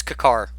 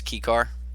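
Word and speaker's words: Kykar: Yeah, it's Kakar. That is it. I don't care. I don't care what the pronunciation is going to be. Yep. You're gonna read its name as Kikar. Kikar. Okay. Yeah, Kikar is fine, but it's Kakar.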